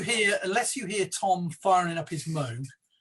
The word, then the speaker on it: Moog: How do you pronounce it? Moog. No, the other one. Moog. Moog.